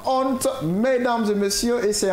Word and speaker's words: honte: C'est comme quand on prend le mot honte. Honte. Souvent les gens disent à honte, honte. Le has il ne se prononce pas. On dit tout simplement honte.